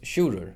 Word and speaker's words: Sjurður: The G always falls away to modern Faroese, and the I turns into a J and doesn't support a syllable anymore. The first syllable is now carried by the U is lengthened. Long U in Old Norse is U in modern Faroese.